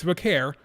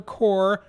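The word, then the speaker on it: Vaquer: and Stephanie Vare again it's Vare not for core not for Kerr Stephanie Vare okay I'm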